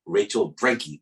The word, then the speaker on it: Rachel Brenke: on client horror stories welcome to the show rachel brankey did i pronounce that right yeah you did you did